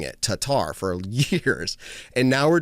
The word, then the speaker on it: Tattar: trying to figure out how to put the emphasis on the last part of her, or the first part of her last name. So the T-A. And a lot of us were saying Tatar. That's how we were saying it, Tatar, for years.